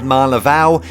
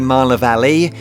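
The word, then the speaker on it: Marne-la-Vallée: voiceover to add that I've always said Marla Val really just out of a habit it's actually Marla Valley with of course much better French pronunciation than what I have also the Ibis Hotel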